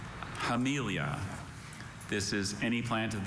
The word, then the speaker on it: Hamelia: Hamelia. Can you pronounce it one more time? Hamelia.